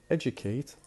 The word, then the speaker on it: educate: So for example, we have the word educate, the stress on the beginning.